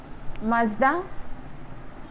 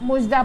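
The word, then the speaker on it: مژدہ: और ये है मुज़गान, मज़दा, और इसे हम मुजदा पढ़ते हैं, यानी कि पेश यहाँ पे है नहीं लेकिन इसे आप मुजदा पढ़ेंगे।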